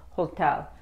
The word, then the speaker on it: hotel: Aquí la H se pronuncia, la H se pronuncia, hotel.